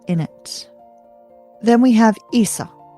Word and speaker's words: Isa: Then we have Isa. Isa, spelled I S A, is ice.